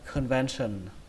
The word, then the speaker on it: convention: Cái âm thứ ba này các bạn nhớ là âm sờ các bạn nhé, âm sần. Nó không phải là sần. Các bạn đừng đọc như vậy. Nó không sờ như vậy mà nó là sờ.